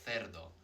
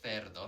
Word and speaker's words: cerdo: So in Spain, a lot of people would say cerdo, like a TH sound. And in Latin America and in the Canary Islands, cerdo. But either way, it's what we call a soft C sound.